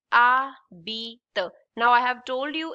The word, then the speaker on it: habite: This is called H is silent. Habite.